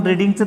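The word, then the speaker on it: read: त्याच्यानंतर क्रियापदाचं तिसरूप वापरलं आपण, रीडिंगचं तिसरूप रेड. स्पेलिंग बदलत नाही पण उच्चार बदलतोय.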